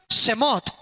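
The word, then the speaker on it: שמות: En el hebreo se pronuncia Semot.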